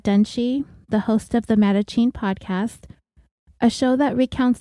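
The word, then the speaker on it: Mattachine: this week Brad dunie the host of the matachin podcast a show that recounts the stories about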